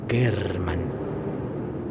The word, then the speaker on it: German: Se llamaba Gail German, pronunciado German, y estudiaba arte.